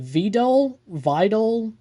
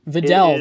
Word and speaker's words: Videl: We have how do you pronounce it? Vidal? Do you know Videl. Videl, there we go.